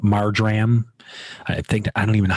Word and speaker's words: marjoram: teaspoon of dried marjoram, not margarine, but marjoram.